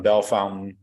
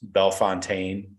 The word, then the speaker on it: Bellefontaine: ring always yeah yeah so Tavian Sinclair from Bellefontaine not pronounced belfontaine as I've been corrected and then uh Ryan